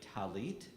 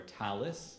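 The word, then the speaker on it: tallit: the prayer for the talit or talis depending ashkenazi or sephardic pronunciation is on page 289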